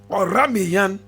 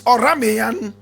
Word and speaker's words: Oranmiyan: Now, Oramiyan, my brother, my sister, is spelled O-R-A-M, yes, O-R-A-N-M-I-Y-A-N. Oramiyan.